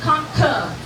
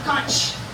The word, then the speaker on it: conch: So, it's conch, not conch. If you are in Europe, though, usually it's said conch cuz that's how it's spelled. So, it depends on where you are how it's said.